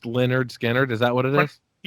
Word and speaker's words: Lynyrd Skynyrd: It's pronounced Lynyrd Skynyrd.